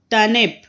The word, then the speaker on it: turnip: टर्निप. र यहाँ पर भी देखिए साइलेंट है.